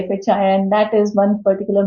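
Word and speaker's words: FHIR: So we had HL7 DICOM standards earlier but now it's fire and all these regulations talk about fire which is FHI. They pronounce it at fire but is actually FHI and that is one particular main standard that we need to emphasize.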